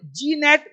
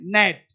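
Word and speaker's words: gnat: होता क्या है जी अब जी नेट बहुत लोग गलती करते हैं जी नेट साइन रिजाइन यहां क्या है जी साइलेंट नेट मच्छर एस आई जी एन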